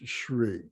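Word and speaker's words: Hrih: And in the very center of this, at our heart center, is the syllable Shri, or H-R-I-H, pronounced Shri.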